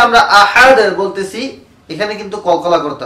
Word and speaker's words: أحد: أحد শেষে যে আমরা আহাদ বলতেছি এখানে কিন্তু কলকলা করতে হবে। আহাদ আহাদ একেবারে যদি বলি আহাদা হবে না, আহাদে হবে না। এখানে কলকলা মানে হলো প্রতিধ্বনি।